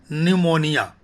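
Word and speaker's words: pneumonia: तीसरा है न्यूमोनिया। ये बहुत घातक रोग है। इसका स्पेलिंग लेकिन पी से है, PNEU, यहाँ पी साइलेंट है।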